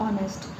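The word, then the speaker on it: honest: यार मतलब आगे ऑनेस्ट नहीं है, ये क्या है, ऑनेस्ट।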